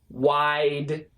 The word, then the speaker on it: wide: But wide and wild are a little bit easier because this is one syllable, but this is basically two syllables, okay?